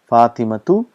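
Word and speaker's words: فاطمة: we pronounce that is how it is pronounced pronunciation is slightly different fatimatu if you want to end at the time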